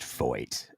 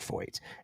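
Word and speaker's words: Feucht: It's pronounced Foyt. It is pronounced Foyt.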